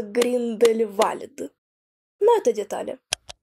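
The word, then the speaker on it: Grindelwald: Просматривая карту Швейцарии, я вдруг натыкаюсь на название Гриндевальд. На самом деле правильно произносится Гриндельвальд.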